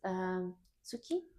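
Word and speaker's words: 月: So it's Tsuki? Yes, very good, very good. Your pronunciation is very good. Ah. Tsuki. Tsuki. Even though it's written tsuki, Tsuki. it's in between. This T also includes TS.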